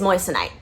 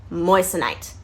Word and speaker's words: moissanite: more about these different gemstones so what is moissanite say with me moissa night moissanite okay i hear so many people mispronounce it moissanite that is how you say